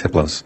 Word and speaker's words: Hypnos: entity his name is hypnos the H is silent the other three are